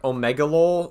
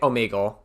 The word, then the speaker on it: Omegle: Is that like Omegalol, or how you say it? Omegle.